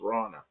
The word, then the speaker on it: Rana: name like that, and people called her Rona, and she goes, it's Rana.